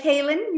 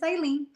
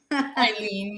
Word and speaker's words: Hailyn: The H is silent. It throws everybody off. It looks like Hailyn Bella, but it's not.